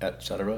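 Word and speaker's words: etc.: concepts your pre determinations prejudice etc notice I pronounced it etc and not ex-ira so stand corrected when I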